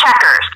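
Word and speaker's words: Chequers: You say it's Checkers. So it sounds like the game, but spelled with a Q. Yeah. Named after a place in England.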